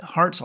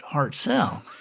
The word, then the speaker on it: Hartselle: cell and she said well we we pronounce it heart so I said really it's curious because Steve pronounce it heart cell she's kinda looks at